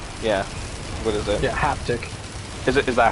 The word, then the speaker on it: haptic: what is it yeah haptic is it is that how you say it yeah like uh half like happen and tick like dick haptic yeah so yeah have